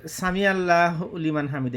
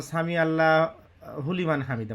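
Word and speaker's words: سمع الله لمن حمده: কারণ বাংলাদেশ থাকতে আমরা আগে বলতাম সামি আল্লাহ হুলিমান হামিদা বলতাম, হুলিমান। কিন্তু আমি পরে যখন পড়তে গেছি তখন দেখি সামি আল্লাহু লিমান হামিদা।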